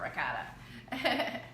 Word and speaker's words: ricotta: I say it like a New Yorker, ricotta.